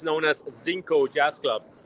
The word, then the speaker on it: Zinco: It's known as Zinco Jazz Club, spelled with a Z.